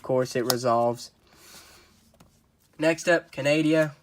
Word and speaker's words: Canadia: it resolves next up Canadia or kandia or kennedy a have you I've heard it pronounced three ways I pronounce it Canadia it's the book of